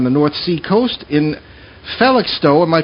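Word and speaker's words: Felixstowe: and lives on the North Sea coast in phallic stow am i pronouncing that correctly yes you all well look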